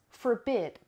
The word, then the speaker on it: forbid: important number three is forbid forbid forbid that ask want imagine in gum for beat even know it forbid forbid and the stress is on the second so forbid means to